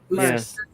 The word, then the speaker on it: Merz: Merz. A Z in German is pronounced as an S.